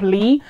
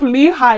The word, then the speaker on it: Lehigh: them to camp lehigh i believe it's pronounced all this time i thought it was camp lee but maybe i just wasn't reading it properly it's camp lehigh which is where steve